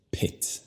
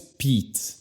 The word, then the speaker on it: Pitt: Luego con su apellido, ya que la vocal no es enfatizada o fuerte para nada, la vocal se convierte al sonido schwa y tú dices Pitt. Pitt. No es Pete.